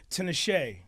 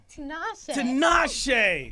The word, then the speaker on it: Tinashe: But I have to say Tinashe. Tinashe.